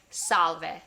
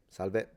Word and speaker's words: salve: Of course, salve comes from salve in Latin. It's the exact same word with just the V pronounced.